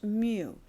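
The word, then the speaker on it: μ: It is mu pronounced mu.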